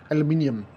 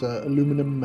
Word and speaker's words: aluminium: The the spelling is uh if pronounced correctly is aluminium but obviously colloquial it's aluminum and sure every other variation.